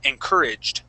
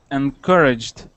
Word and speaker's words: encouraged: practice is encouraged okay so our accent uh is going to be right here uh or the stress in the word encouraged try that encouraged good nice job okay